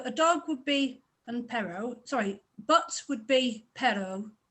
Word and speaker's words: perro: Perro is stresses slight pause between the R's and a slight stress on the second one also works.